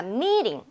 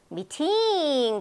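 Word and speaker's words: meeting: 돼서 리처럼 나는 거야 다시 말하면요 자 미링 어디를 제가 높고 크고 길게 발음했던 미팅 그랬습니까 미링 했습니까 미링 그랬어요 그럼 앞부분이 강하단 말이에요이 부분이 강하단 말이에요 그럼 얘는요 어 약하게 들릴 겁니다 그래서 약한 부분은요 링 이렇게 되는 거죠 그럼 두 번째로 getting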